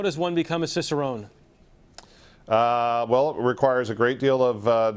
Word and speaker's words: cicerone: we're joined by Ray Daniels who is a cicerone cicerone correct Ry that's the correct correct pronunciation so which which is which is essentially